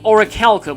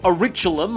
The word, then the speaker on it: orichalcum: An orichalcum, or auriculum, as I used to pronounce it back when I played Kingdom Hearts 2 for the first time as a kid.